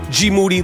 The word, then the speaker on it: Moody: He is the great Gmoody. Last name rhymes with duty.